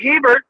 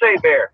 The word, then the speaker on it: Hebert: Looks like Hebert, but it's pronounced Hebert. Blame the Louisiana French for that one.